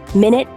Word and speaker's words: minute: Small, minute, slight, tiny. Minute, pronounced differently from minute as a unit of time, emphasizes something very small or detailed.